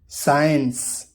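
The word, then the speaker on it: science: अक्सर एस के बाद और के से पहले सी साइलेंट होता है। एग्जाम्पल देखिए, सीन मंजर, साइंस डिसिप्लिन अदब और सलीके को बोला जाता है।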